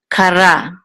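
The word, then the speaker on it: קרא: resh with a kamatz, and this aleph is silent, so it will say ra, kara.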